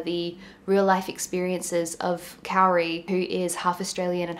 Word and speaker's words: Kauri: I think I really messed up Kauri's name the first time I pronounced it. I think I said Kauri. I think it's more pronounced like Kauri.